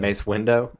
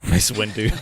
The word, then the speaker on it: Mace Windu: Mace Window. Mace Windu, Mace Windu.